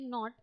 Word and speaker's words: knot: So one not is K-N-O-T not, where K is silent.